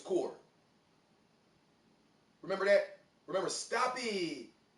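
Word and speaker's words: Kur: I think it's Core. I don't want to say Kerr, it's spelled K-U-R. But I think it's Core.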